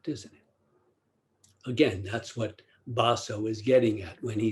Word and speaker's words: Baso: early chinese zen master pronounced in japanese baso quote the way needs